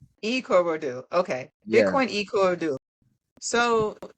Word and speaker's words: Ikorodu: me earlier before we started recording how to pronounce it. Uh I'm gonna try to say it. Ikorodu. Say it again. Ikorodu. Ikorodu.